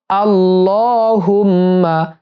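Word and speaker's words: اللّهمّ: অনেকেই আল্লাহুম্মা বলে আল্লাহ যদি বলেন তাহলে ভুল উচ্চারণ হবে সঠিক হলো আল্লাহুম্মা আল্লাহুম্মা আল্লাহুম্মা রব্বা হিদ এই হা দিয়ে দালকে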